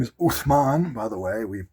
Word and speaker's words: Usman: But his name is not Usman. It's Uthman. Uthman.